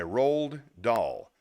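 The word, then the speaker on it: Roald Dahl: I got something cool here this is from Road doll my guy who wrote Charlie in the Chocolate Factory and a few other things here we go this is be an Enthusiast by Ral doll r o a l d da a HL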